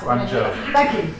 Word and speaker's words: Guangzhou: we've got some link-ups with, I think it's Gaojin project, I can't pronounce it. Guangzhou.